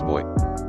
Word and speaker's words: buoy: drives me insane rotta equals rot buoy is pronounced boy you'd think it would be easy as you pronounce boyant the same way but no you get the abomination of buy mfw I realize I've been saying both my